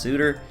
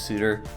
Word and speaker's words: Sutter: be punny with this does not know that Bruce suiters name is pronounced Souter because this should read Souter dominance but regardless this one is walk it off against Bruce Souter essentially it's bottom nine